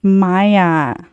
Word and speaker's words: Mya: you said it's spelled M-Y-A. It is MYA. It's Maya. I'm not the one that spelled it, but it's what's on her birth certificate.